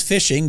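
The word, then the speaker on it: phishing: cautious yeah and and when you say fishing you're talking about spelled with a p but it's but it is fishing just like you do with a fish except it's it's computer fishing and yeah I guess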